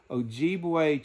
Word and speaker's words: Ojibwe: Ojibwe tribe.